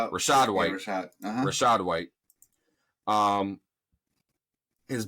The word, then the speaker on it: Rashad White: yeah even though uh is it rashan white is that his name how do you pronounce his name hold on yeah Rashad Rashad white Rashad Rashad white um